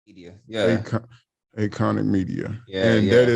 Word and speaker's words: Aconic: Acon- Aconic Media. Yeah. And that Yeah. is it's spelled with an A, but you pronounce it like your name, Acon.